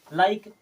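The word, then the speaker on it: like: हो जाएगा जैसे देखिए एल आई के ई लाइक लाइक हमने पढ़ा ये हो गया साइलेंट इसे क्या पढ़ते हैं लाइक अगर साइलेंट नहीं हो तो क्या पढ़ना पड़ता लाइक के जो कि गलत हो जाता इस प्रकार से कई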